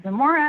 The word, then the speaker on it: Zamora: For the record, my name is Zamora. That's spelled hyphenated ZAMORA.